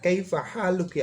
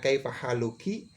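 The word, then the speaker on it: كيف حالكِ: tentang kabar kepada Aisyah Kaifa haluki Aisyah ya Meskipun tulisannya Kaifa haluki kita boleh membacanya di sukun saja Kaifa Haluk ya Aisyah Bagaimana kabarmu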